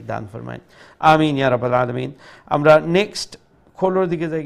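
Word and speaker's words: عَلِيمٌ: লাহ ইন্নাল্লাহা বিকুল্লি শাইইন আলিম আলিম আইনটা গলার মধ্যখান থেকে মধ্য অংশ থেকে উচ্চারণ করার চেষ্টা করব ইনশাআল্লাহ ইন্নাল্লাহা বিকুল্লি শাইইন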